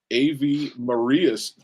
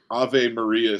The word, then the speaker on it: Ave Maria: He graduated first in his class and summa cum laude from A.V. Maria's School of Law. How do you say that? I know I just butchered it, didn't I? It's Ave. Ave Maria School of Law.